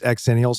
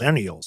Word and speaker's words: Xenials: was like, "It's pronounced Xenials." No, it isn't. Yeah, it's called an X-enials. It's a stupid spelling, but that's what it is. It's Gen X and Millennials, not zenials.